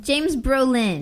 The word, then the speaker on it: Brolin: James Burlesque. No. You're just mispronouncing it. I am not mispronouncing it. What's his name? James Burlington? James Brolin.